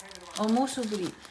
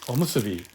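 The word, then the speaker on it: おむすび: Omosuburi. What's it? How do you say it again? Tuna. Omosuburi? Omusubi.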